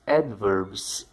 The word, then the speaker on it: adverb: A quarta e próxima classificação de palavras são os advérbios, os adverbs. Adverb é a pronúncia correta. Se você pronuncia de outra forma, você pronuncia errado.